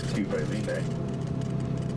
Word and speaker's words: Pipeline: And of course everybody wants to say pipeline, but it's actually pipeline, so you got to be careful.